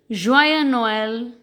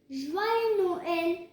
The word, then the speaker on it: Joyeux Noël: Christmas, you will say Joyeux Noël. Joyeux Noël. Correct. Joyeux Noël. Joyeux Noël. You will not pronounce this as joyeux. You don't have to pronounce the S.